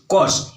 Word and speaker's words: coarse: तो यहां देखिए कॉस, COARSE, कॉस, इसका देखिए आर जो है साइलेंट रहता है, COURSE कॉस होता है।